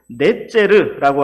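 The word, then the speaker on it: נצר: 그리고 히브리 말에서 나뭇가지를 의미하는 말은 넷제르라고 하는데 이건 역시 알파벳 표기가 동일합니다. 우리는 여기에서 가지, 나뭇가지, 넷제르라는 말을 통해서 예수님께서 나사렛 사람이라고 불리리라는 그 말씀이 구약성경 어디에서 등장하였는가를 찾아볼 수가 있습니다.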